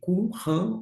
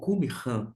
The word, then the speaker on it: Qumran: Esse manuscrito do Mar Morto é chamado de Qumran ou Qumran. Fique à vontade em termos de pronúncia, você pode ouvir de uma forma ou de outra, mas se refere a